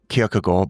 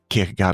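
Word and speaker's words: Kierkegaard: to Kagard or in in Danish, it's kind of pronounced Kyokugore, but Kagard is fine.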